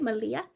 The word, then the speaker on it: Malia: oh it's part like it's pronounced like Maria but with an L instead of an R oh a Malia Mal is that right Malia hey Robin how are